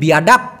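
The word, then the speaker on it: biadap: এবার হলো বিয়াডাপ, বিয়াডাপ, ডি শব্দটিকে, অক্ষরটিকে ওরা যেহেতু ড উচ্চারণ করে সেজন্য হবে বিয়াডাপ, কিন্তু বাংলাদেশে সেটার অর্থ হলো বেয়াদব।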